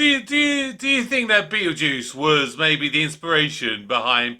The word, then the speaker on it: Beetlejuice: right right so I guess it's where it's Beetle Juice rather than Beal guys Beetle Juice yes that's